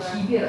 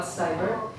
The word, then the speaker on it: cyber: And when you pronounce the word cyber, not kiber, I understand that in Russian we say cyberbullying, cyberprostranство, yeah, but cyber.